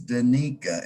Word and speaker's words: Danica: i want to apologize for mispronouncing your name it's danika and you were fantastic